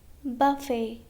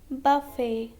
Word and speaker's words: buffet: Now letter T is also silent in some of the French words ending in et. Okay? For example, ballet, ballet, buffet, buffet, gourmet, gourmet.